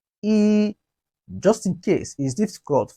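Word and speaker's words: 一: rising tone laying laying one in chinese is pronounced as he he repeat after me e just in case is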